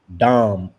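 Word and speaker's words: דם: The word to pronounce right in Hebrew for the word of blood is dam like as in damu. Not dam but dam like as in Adam or Damu as in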